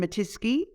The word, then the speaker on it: Mattiske: It's Matiski. And the easiest way to remember it is that it rhymes with whiskey.